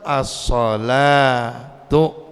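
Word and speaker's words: الصلوٰة: Tapi bacanya mah sama. Bacanya tetap as-salatu, az-zakatu, al-hayatu, tapi tulisannya doang yang kagak pakai alif tapi pakai waw.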